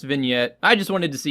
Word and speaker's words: vignette: my personal go-to favorite is under imagefx called vijnite just kidding it's pronounced vignette I just wanted to see your reaction to